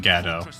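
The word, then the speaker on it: Gadolt: It is pronounced Gado.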